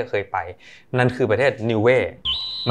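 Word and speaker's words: Niue: มาก ที่ จะ เคย ไป นั่น คือ ประเทศ นิเว มัน สะกด ว่า n i u e ซึ่ง มัน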